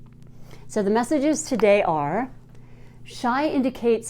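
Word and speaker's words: Shih: So the very first card today is shy. I want to say shy, and I think it's a silent H.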